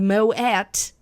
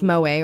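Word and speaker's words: Moët: This girl had Moet, the champagne. I don't know if it's Moet or Moet. I know it's expensive. I feel like it can be both. I think it's both. It rhymes with poet.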